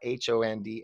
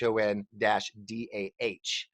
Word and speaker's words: Hon-Dah: By the way, it's not HONDA, it's HON-DAH Casino Resort.